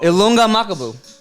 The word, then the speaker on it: Ilunga Makabu: Ilunga Makabu.